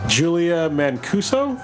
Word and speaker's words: Julia Mancuso: I think her name is pronounced Julia Mancuso.